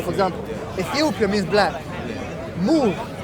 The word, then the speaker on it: Moor: Moor, I'm not saying it right. Am I saying it right? Moor, M-O-O-R, Moor, right? Yeah.